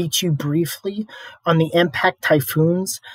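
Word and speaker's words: 台風: miles per hour now japanese it's pronounced typhoo so you can pretty much see the resemblance of um typhoon and typhoo uh now there's no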